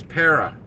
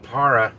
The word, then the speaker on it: Para: the hidden tip and it is pera so whoever pronounces it para they're wrong and i'll tell you why i know this for sure because i asked david from pera how he pronounces it he says i say pera i've always said para